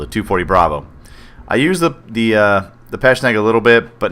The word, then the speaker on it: Pecheneg: I've heard some guys on YouTube joke and call it the PKP Pecheneg, but all joking aside, that's not really the way it's pronounced. I'm pretty sure it's called the Pecheneg.